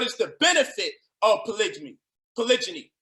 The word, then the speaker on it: polygyny: Polygyny. It's not polygamy or whatever the way you was pronouncing it, is polygyny.